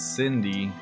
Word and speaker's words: Cindy: And it's it's Cindy. I think people think it's Sydney, but it's Cindy.